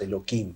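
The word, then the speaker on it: אלוהים: eh de Dios Entonces los modificamos en el idioma en vez decir Elohim decimos eloim para no Por así decirlo no tomarlo en vano es también sinónimo de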